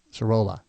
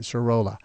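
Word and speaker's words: Sirola: r o l a Sira there you go I didn't say it right Cho I kept saying sha so uh anyway he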